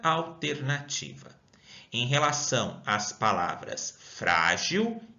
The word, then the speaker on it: frágil: A palavra frágil. Quantas sílabas? Uma, duas sílabas. Qual é a sílaba mais forte? É o frá. Sendo assim, não está na última, e sim está na penúltima sílaba.